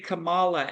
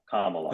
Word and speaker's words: Kamala: I think that if the handlers can play Camala as a GameStop type let me stop let me stop let me stop you right there pronounced Kamala NOA no like Kama like k k yeah Kamala okay my mission my mission is to get